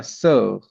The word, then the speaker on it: sœur: This is how we write this particular word, and the pronunciation is like oh. Okay, like sir, So, sir.